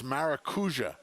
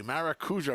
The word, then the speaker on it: Maracuja: you tell johnny i it's maracuja pronounce the j maracuja i was like i'm